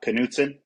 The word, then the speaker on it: Knutson: that how you say your last name uh Knutson Knutson yeah is that uh okay yeah I mispronounced um Riker's last name you know I